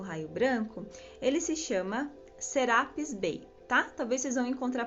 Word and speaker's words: Serapis Bey: os direcionamentos no raio branco, ele se chama Serapis Bey, tá? Talvez vocês vão encontrar pronúncias que falem Serapis Bey, mas é o mesmo ser, tá?